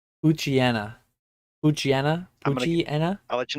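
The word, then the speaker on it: Poochyena: I always say Puchiena. Puchiena? Puchiena? I'll let you know when I get there. Yeah. Oh yeah, Puchiena. Yeah. Pucci and then like hyena. Yeah. I'm a Puchiena.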